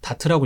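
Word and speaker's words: DART: 다트라고 읽습니다.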